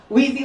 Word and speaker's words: Weezy: Okay, because I always say his last name wrong, and he was like, Weezy like the Jeffersons, so I got it.